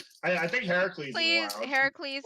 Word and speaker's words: Heracles: i think heracles please heracles is the the proper greek pronunciation hercules is the movie pronunciation so if you want